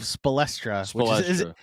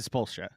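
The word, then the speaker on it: Spoelstra: After years of Spelstra isn't even phonetically correct, but after years of that, we got to Spolstra.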